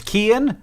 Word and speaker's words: Cian: This person's name is Kian, who says, my name specific sign off, only if you realize that CIAN is pronounced Kian.